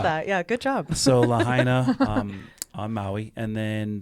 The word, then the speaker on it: Lahaina: but I noticed that yeah good job so Lahaina um I'm Maui and then uh Great Falls